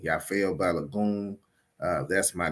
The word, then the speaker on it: Yafeuh Balogun: should conad your brother the name is pronounced yafo balagon I say it again yafo balagon uh that's my name